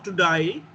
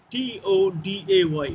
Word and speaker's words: today: T O D A Y. Today what we pronounce as today have you come to die is way how the Australians speak they how the way they pronounce.